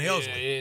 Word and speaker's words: Helsley: I've learned how to pronounce his name correctly, haven't I? It's Ryan Helsley.